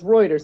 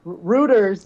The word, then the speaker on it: Reuters: it and you go it's Reuters and he goes okay so Rutters back to it it was hysterical he was saying it he was saying it wrong the whole podcast until